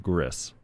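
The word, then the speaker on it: XGris: oh with a g x is also silent so just gris no x okay can we upload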